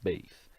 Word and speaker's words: Bayes: quién fue tomás veis nosotros lo pronunciamos valles pero en verdad su nombre es tomás veis nació en 1702 murió